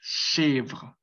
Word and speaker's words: chèvre: Chèvre, chèvre, chèvre. Entonces, esa es la forma correcta de poder decir, pues, esta chèvre, que pues es una cabra, es la cabrita, la cabra.